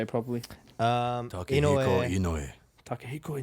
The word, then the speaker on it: Inoue: Inoue. Takehiko Inoue. Oh, you said the last name first. That's Inoue. You take away my weed pipe now. All right? Edit this out. So I said Inoue first before Takehiko.